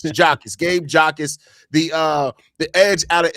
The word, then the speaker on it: Jacas: Is it pronounced it Jakus or Jakis? I can't I can't be Jakus. Jakus. Jakus. Okay, that makes sense. Jakus. Gabe Jakus, the the edge out of Illinois.